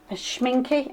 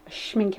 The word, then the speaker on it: Schminke: my favorite favorite pestle schminke and not shown you pronounce it s CH minc ke still schminke pasta but look at